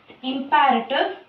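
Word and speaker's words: imperative: And then இன்ட்ரோகேட்டிவ், இம்பேரட்டிவ். இதை இம்பரேட்டிவ் அப்படின்னு pronounce பண்ணுவாங்க, இம்பேரட்டிவ் அப்படின்னு ப்ரொனவுன்ஸ் பண்ணலாம். The last one is exclamatory.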